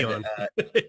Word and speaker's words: Aeon: So Aeon Oh, had, Eon. yeah, It's spelled a little different. yeah, Aeon.